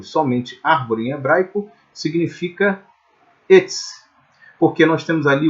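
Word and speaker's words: עץ: Como há um AIN, o AIN não possui som, então nós temos etz. E o serê, que é a vogal, é uma vogal de pronúncia longa, de pronúncia fechada, né? Seria a ideia de E como na palavra V. Por isso a palavra árvore em hebraico, melhor, mais próximo do correto a ser então pronunciado, seria etz.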